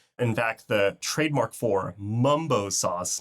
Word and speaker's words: Mumbo Sauce: In fact, the trademark for Mumbo Sauce, not to be confused with Mambo Sauce, which is sometimes how it's pronounced, is actually owned by a Chicago-based company.